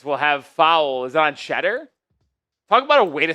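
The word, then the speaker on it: Tschetter: This will have foul is on Shedder? Talk about a way to spell Shedder, by the way. T S H E T T E R. It's European. But it's pronounced Shedder.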